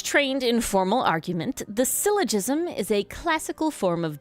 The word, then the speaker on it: syllogism: The my guess is this is pronounced silogism or no not gizzmom. I don't syllogism. Okay. Like syllable in pronunciation.